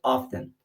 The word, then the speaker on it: often: Não precisa falar often. Você não parece tá falando off e o número 10. Então often. Beleza?